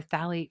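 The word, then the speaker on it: phthalate: So if you're looking for it it's ph a I'm sorry let me start again ph a l a t e. It's pronounced phalate but it looks like f fthalate.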